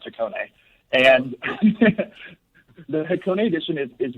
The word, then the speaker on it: Hakone: it at the beginning because it is actually pronounced takone and the hakone edition is really our homage